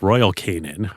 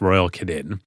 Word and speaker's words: Royal Canin: pet food company called Royal Canin, or I've also heard it pronounced Royal Canin.